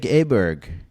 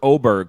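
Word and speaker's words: Åberg: I want to hear it out of his mouth because they were Oberg forever, the announcers, and now they're Aberg.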